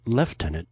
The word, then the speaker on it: Lieutenant: Lisa earns the nickname Lieutenant pronounced left tenant in Europe even though It's spelled the same on both sides of the Atlantic.